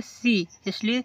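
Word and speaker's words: science: For example देखो यहां पर एस सी आई ई एन सी ई साइंस देखो एस के बाद है सी इसलिए सी को साइलेंट कर दिया गया और साइंस मींस विज्ञान क्या होगा?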